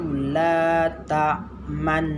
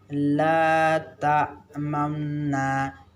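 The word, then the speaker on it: تَأْمَنَّا: itu secara tertulis itu meletak man Nah kalau kita membacanya apa yang tertulis saja begitu Salah cara baca kita Karena disana ada ismam jadi cara bacanya letak mamna Kenapa CB seperti bicara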